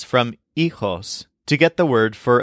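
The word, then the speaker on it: hijos: at least one child the word for children in Spanish is eos spelled h i j oos with a silent h EOS this word specifically means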